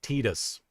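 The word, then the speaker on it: Tidus: Didia Final Fantasy also pronounces it Tedus. Then I will go with Tedus until somebody yells at me about it.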